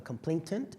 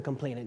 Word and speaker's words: complainant: the complaint the complainant I'm sorry pronouncing that wrong the complaintant is that how we pronounce it anyway the complainant yes and no one's no